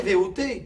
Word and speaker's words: Levaux: Surtout si vous prononcez VOT. Ah ouais?